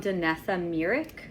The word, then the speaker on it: Danessa Myricks: It's from Danessa Myricks. That's how you pronounce it, Danessa Myricks Beauty.